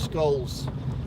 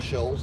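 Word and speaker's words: Scholes: Running towards Skulls, or Shoals, depending on how you say it.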